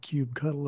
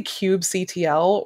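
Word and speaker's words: kubectl: because it's kubernetes but i say kubecon ctl or cube ctrl cube cuddle or cub cuddle or uh i say cube ctl or cube control i say i say cube cdl i pronounce the letters at the end yeah it's it's usually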